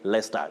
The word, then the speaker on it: Leicester: should say lester but that is not the pronunciation of that name you say lester grace camaro of naroq you say vehemently not